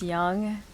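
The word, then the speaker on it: Yonge: It's young. Even though it's spelled Yon.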